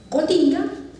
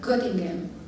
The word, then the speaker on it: Göttingen: una ciudad universitaria que se llama en español Göttingen, pero en alemán se pronuncia Göttingen.